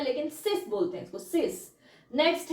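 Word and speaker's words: sept: सिक्स वाला ही है लेकिन सिस बोलते इसको सिस नेक्स्ट है से एस ई प टी से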